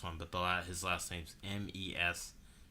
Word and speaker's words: Mestre: I know I pronounced that last one, but his last name's Mestre. Mestre.